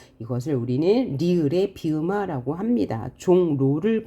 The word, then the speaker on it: 종로: 우리는 을의 비음화 합니다 종로를 보면요 종로 뭐예요 앞말의 받침이 이응이 뒤에는 첫소리가 리얼입니다 그래서 우리는 종 노라고 발음하죠 그다음에 백로를 보면 앞말의